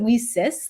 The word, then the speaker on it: WiCyS: it's spelled w-i-c-y-s and we pronounce it we sis like we sisters because that's exactly what